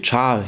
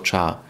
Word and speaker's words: char: Jeszcze krótszą zmienną będzie zmienna k, czy char, jak to wymawiać, bo jest to skrót od charakter, ale tak to się chyba wymawia już jako char.